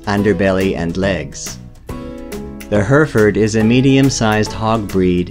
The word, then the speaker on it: Hereford: the Heritage pronounced hereford in Canada and the United States is a